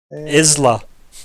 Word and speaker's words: Isla: It's Isla without the Y. Mhm. Like the island.